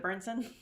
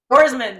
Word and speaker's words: Borsman: Roseberry's team, from Michelle, I can never say her name. Is it Burnson? Bergman? Borsman, thank you. It comes from Michelle Borsman. I mean, she really gave... It's Borsman. Thank you, Borsman.